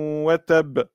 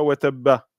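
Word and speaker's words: وتب: En fait, on dirait tabbat yada abi lahabin watab, watab, et non pas watabba. Ça, c'est quand vous lisez le Coran et que vous vous arrêtez ici. Si vous continuez le verset suivant, eh bien il faut bien prononcer le son A.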